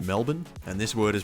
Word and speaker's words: Melbourne: This word is pronounced Melbourne, and this word is pronounced Brisbane.